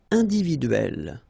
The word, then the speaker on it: individuelle: It will open the sound of E, so you will pronounce it like E, okay?